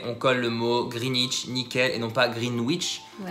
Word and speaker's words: Greenwich: it ch donc voilà on oublie le w on colle le mot greenwich nickel et non pas